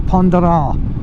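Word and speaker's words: Pointe du Raz: The Pointe de Raz, as it's spelt as we would say it in English, the Pointe de Raz, and in the French pronounce it the Pont de Raz.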